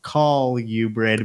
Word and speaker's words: colubrid: I know it's okay it's technically pronounced call you bred but it's for me